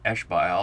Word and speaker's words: Ishbaal: But in either event, he's either a great-great-uncle or a great-grandfather of Ishbaal or Ishbosheth, depending upon how we pronounce that.